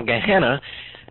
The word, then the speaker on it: Gehenna: can write it down g e e n n a and when you have two e's together in the greek it just pronounces an eh gehenna now gehenna gehenna originally referred to